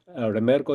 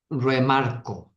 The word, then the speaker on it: REMARCO: REMARCO is am I pronouncing the name right? REMARCO is the name of the network? REMARCO.